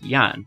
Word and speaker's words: jan: The exception is the letter J, which represents a palatal semi-vowel, y, like the English letter Y. So this word, which means person, is pronounced like Jan, with a y. This is the value the letter J has in the international phonetic alphabet, which is why toki pona uses it this way.